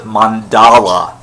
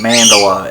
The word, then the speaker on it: mandala: whatever and recently uses her new power learning mandala or she pronounced it pronounces at mandela I'm pretty sure she mandala is the correct pronunciation because it's not Japanese